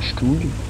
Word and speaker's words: StuG: Du coup là c'est parti, deuxième char, un Stug, oui ça se prononce comme ça, c'est un chasseur de